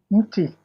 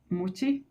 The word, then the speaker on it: mti: Mti. Muchi? Mti is the singular. The plural is miti.